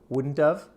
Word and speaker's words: wouldn't have: for hypothetical situations so listen and say wouldn't of wouldn't of and we might say